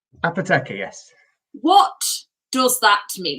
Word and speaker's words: Apoteca: Peak District, producing, and just so you can pronounce it properly, Apoteca Gin. Okay, so straight away, I've been saying it wrong, which I think I've said it wrong several times, both to members and others. Apoteca. Apoteca, yes.